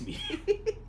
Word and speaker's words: Bidu: Yeah, that's how my mom pronounces her name. It's like, it's not Bido, it's Bidu.